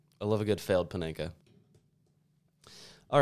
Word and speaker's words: Panenka: Panenka? Panenka.